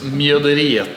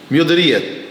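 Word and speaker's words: Mjøderiet: Your meadery, well, we always say Mjodereit. But how do you spell it? How do you pronounce it correctly in Norwegian? It's very close. Mjoderiet. Mjoderiet.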